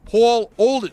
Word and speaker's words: Paul Olden: and he's like no you're mispronouncing it's paul olden paulden he's like say my name right it's paul olden i i i don't